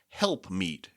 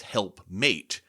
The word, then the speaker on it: helpmeet: Now, by the way, we now generally think of this as helpmate, just through centuries of mispronunciation and misunderstanding, really. And a helpmate we think of as a companion or servant who helps you out. But really, it's helpmeet.